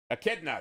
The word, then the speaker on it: Echidna: wrong the eknita hey Karina how do you pronounce that one Magnus told me and I forget echnada and what other creature Echidna there you go the only known monotromes in